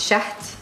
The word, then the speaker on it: Shahd: the shade but tell me exactly how to pronounce it everybody says Shay because no one can crowns shut shut I think you have to except for